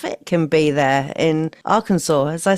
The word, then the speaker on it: Arkansas: idea how rough it can be there in Arkansas. As I say it right, Arkansas.